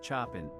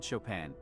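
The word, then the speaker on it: Chopin: The runnerup mispronounced the answer as Chapin and she said Shopan winning them the $500,000.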